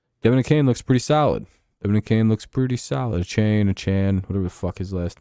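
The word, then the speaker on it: Achane: I haven't heard that last name pronounced the same way once yet. Do you know that? Like, week to week, it's been a different pronunciation from every source. A-Chan? A-Chan? I hate names like that, dude. Why even have the E there, then? I hate silent letters, dude.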